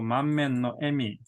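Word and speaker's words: 満面の笑み: 満面のだったら絶対エミですね。그러니까 요거 읽을 때 에미로 이렇게 한자가 미소로 녹아 있으면은 에미로 읽으시면 됩니다. 에미.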